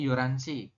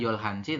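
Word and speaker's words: 열한 시: teman-teman nah ini tulisan Yol Hanan kayak gini kan yolhans Anda bacanya gimana basanya yoransi ya jadi jangan sampai terkecoh y nanti membacanya yoransi Bukan yolhansi tapi yoransi kemudian eh 12 berarti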